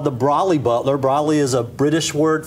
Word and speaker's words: Brolly Butler: Rob Stallings is here, and he's going to be telling us about the Brolly Butler. Is that how I pronounce it?